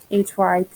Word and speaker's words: hyperboles: it's called hyperboles and that is not spelled like it's supposed to be either like it sounds either h-y-p-e-r-b-o-l-e-s hyperboles hyperboles are vast